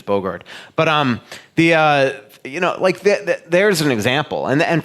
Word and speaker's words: Boogaard: I always pronounce Boogaard by the way it's really pronounced, which is Bogard.